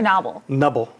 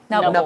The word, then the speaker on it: noble: the gble that thing is it nuble or Noble nuble okay the N use the but it's spelled with a GM like gnome yes it's a um